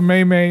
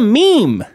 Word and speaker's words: meme: to call it a maymay and move on it's called a meme it rhymes a dream it sounds like a scheme it rhymes with meme it's not a scheme